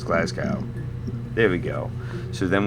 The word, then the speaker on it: Glasgow: glass glassgow was it glassgow it's glassow there we go so